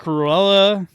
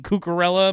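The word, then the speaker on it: Cucurella: Um, Mark Cruella, I mean, Cuckarella, my bad. I'll pronounce one of these names, right?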